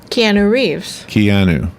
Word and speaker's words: Keanu Reeves: Keanu Reeves.